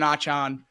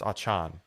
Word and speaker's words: Achane: You have two running backs in Raheem Mostert and Devin Achane that got legitimate carries, over 40 fantasy points for both.